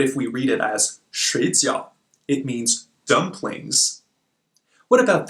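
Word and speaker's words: 水饺: means sleep but if we read it as shades yo it means dumplings what about this one reading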